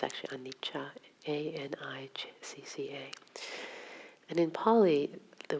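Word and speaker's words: anicca: spelled a-r-a-n-i -c-ca and the sea is is pronounced as cha instead of Anika it's actually Anita a-n-i-c-c-a and in poly the word literally means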